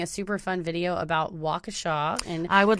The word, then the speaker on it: Waukesha: take this time to apologize for pronouncing it wakesha although just such a huge kesha fan we really think that she should have her own city and we're offended that it's not pronounced that way but it was a